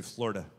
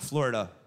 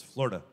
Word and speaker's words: Florida: If you're from here, you say Florida. Not Florida. Two syllables, Florida.